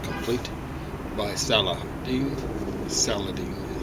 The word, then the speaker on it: Saladin: Saladine is how we pronounce it in English.